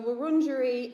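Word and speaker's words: Wurundjeri: about the word wornderie i have been saying it incorrectly for years and a young boy in thornbury primary who learns the way werung language which we are very proud of said jed you're saying it wrong it's wrong jury but he told me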